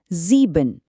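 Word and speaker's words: sieben: तो आई ई की आवाज हमेशा इ होगी। जैसे इस शब्द में जीबिन जिसका मतलब होता है सेवन। इसका उच्चारण होगा जीबिन।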